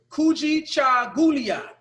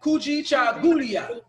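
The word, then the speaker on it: Kujichagulia: So the next word is Kuji Chagulia. Can you guys say that? Kuji Chagulia.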